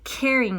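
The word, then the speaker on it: Kering: is part of the caring group and i'll spell that for you k-e-r-i-n-g caring group and i say in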